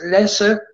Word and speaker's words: Lasse: My wife, she spells, she says my name Lasse when she talks to me. But it's a Swedish name, and the name is Lasse. But I didn't want that, so I thought that Lasse sounds a little more cool.